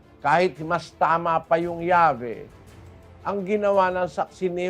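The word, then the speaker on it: Yahweh: ang kanilang sinasabi sak ni jeova Sabio p pronunciation yahwe as the more correct way we have retained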